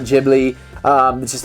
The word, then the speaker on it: Ghibli: watching all these studio ghibli films because yes we're american we're saying ghibli not jibbery not ghibli um this is how